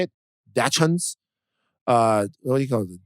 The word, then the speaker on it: dachshund: how you say it dachans uh there you go i don't i don't think this is a ch hard sound i think it's like a dashen okay so a guy